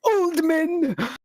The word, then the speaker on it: Oldman: Hello, it is actually Oldman. Oldman, I'm sorry, I apologize for that mispronunciation.